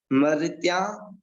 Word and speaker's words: मर्त्या: मर्त्या, मर, इसमें रा की जो मात्रा लगी हुई है, माँ के जस्ट बाद रा की मात्रा का उच्चारण होगा और उसके बाद में अन्य का उच्चारण होगा।